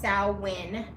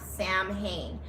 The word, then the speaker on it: Samhain: So, um, Sin, it is pronounced Sin, not Sam Hayne.